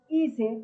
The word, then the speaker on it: ICE: Bueno, así se escribe IS, pero se dice ICE.